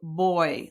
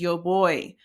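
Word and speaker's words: voy: It sounds like ear and it's conjugated to boy like boy versus girl. So it's a b sound. So the v is a b sound in Spanish. Um so it's pronounced pronunciation is y boy.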